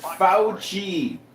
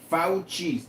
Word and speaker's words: Fauci: His name is pronounced Fauci. Fauci.